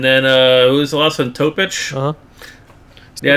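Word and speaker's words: Topić: Topic. Yeah, it's spelled like a. Sounds like Jokic. Topic is a fun name. Rhymes with Jokic.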